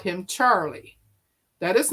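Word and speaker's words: Charleigh: She spells it C H A R L E I G H. Charlie.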